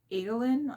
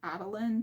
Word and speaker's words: Adolin: So instead of Adolin, I pronounce it Adeline just because it's makes sense in my head, so I'm gonna continue doing that.